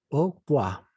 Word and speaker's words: au revoir: Hemos dicho que esta se vuelve una O, pero no es la O francesa, es la O francesa. Au revoir. Esta E, perdón, no se pronuncia. Entonces sería O, la OI se vuelve WA. Au revoir. ¿De acuerdo? La R no se pronuncia al final.